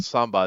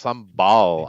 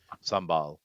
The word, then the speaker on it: sambal: Uh uh well, so it's not samba. It's sambal. I It's like an L there, but I guess they don't pronounce it very sambal.